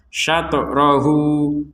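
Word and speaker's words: شطره: di samping huruf Ha ini menandakan kita harus memanjangkan dua harakat syat rohu Hunya dua harakat Kapan yaitu ketika menggabungkan kepada kata berikutnya lialla satatrohu lialla satatohu Li hui Nah itu kan dipanjangkan dua harakat kalau tidak digabungkan dengan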